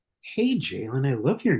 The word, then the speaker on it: Jaylan: Is it Jaylan? Well, it's Jaylan, but every American I know says Jaylan. I think because there are Jaylans in America, a lot of them.